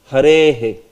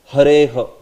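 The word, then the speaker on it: हरेः: See, you are saying Harehe. Sometimes some devotees pronounce it as Hareha. It's not Hareha. It is the visarga will take the sense of the last vowel which is being pronounced.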